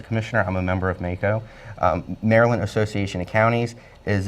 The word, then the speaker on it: MACo: We wanted to talk, is it pronounced MACO? The MACO? MACO, yes. MACO.